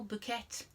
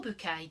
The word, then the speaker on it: Bouquet: portrayed by french actress carol bouquet or bouquet depending on how you want to pronounce it now molina is not